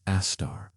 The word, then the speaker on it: Sagittarius A*: The monster at the center of our Milky Way galaxy, called Sagittarius A*, pronounced Astar, weighs 4 million times more than our Sun.